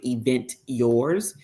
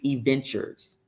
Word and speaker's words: Aventur: a play on words you don't pronounce it event yours it's actually aventur I just couldn't use